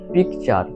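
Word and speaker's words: picture: ইংরেজি শব্দে টি এর পর ইউ আসলে টি এর পর ইউ আসলে টি এর উচ্চারণ চ হয় স্বাভাবিকভাবে টি এর উচ্চারণ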